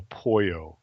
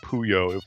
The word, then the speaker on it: Puyo Puyo: to pronounce I see I've always I've always said you know poyo but they seem to they seem to call it Puyo when you play the campaign mode but I mean Tetris